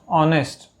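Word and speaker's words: honest: है, क्या आता है, ऑनेस्ट। ऑनेस्ट में क्या होता है कि जो एस होता है ये साइलेंट होता है, क्या होता है, साइलेंट, तो इसलिए यहाँ पे एन आता है।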